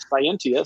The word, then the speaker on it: Cyentia: You know, if you cyberize it with a CY instead of SC, you get Scientia.